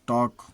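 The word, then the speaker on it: talk: Could सका, कॉफ, बछड़ा, half, आधा, फोल्क, जनसमूह, टॉक, बात करना, पाम, हथेली, आर्म्स, भिक्षा। एन साइलेंट, एम के बाद आया हुआ एन प्रायः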